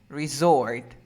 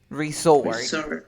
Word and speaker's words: resort: dessert dessert dessert resort resort did you understand it's pretty similar so we say dessert resort so this is my last resort resort nice we can